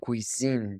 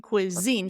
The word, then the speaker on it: cuisine: those two again Fusion Cuisine there you go Fusion Cuisine Fusion Cuisine and I'm going to put a little W here and Z to remember it's two things each Fusion Cuisine Fusion Cuisine